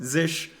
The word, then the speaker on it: zsh: can also use Z zsh which is pronounced zish that will also work